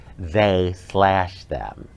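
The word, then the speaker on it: They/Them: them uh and actually it's pronounced or said they slash them mhm with a roster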